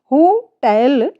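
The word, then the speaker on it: hotel: होटल ये हमारा wrong pronunciation है, राइट प्रोनाउंसिएशन होटल। टेल पर हमें थोड़ा सा जोर देना है, स्ट्रेस देना है।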